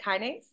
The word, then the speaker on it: kinase: Is it kinase? I don't know how to say it. Is Very good. Yeah, kinase.